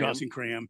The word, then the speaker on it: Dawson Cram: go between him and Dawson Cram. Is that how you say his name? Cram? Dawson Cram, yeah.